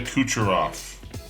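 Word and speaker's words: Kucherov: say his last name so I won't try kucharov Makita kucharov laser shots Nakita kucharov that is how you say it took me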